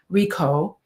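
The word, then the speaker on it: Richo: the five keys to mindful loving David risho Rico Rico that's how you pronounce it and I'm on page 145 and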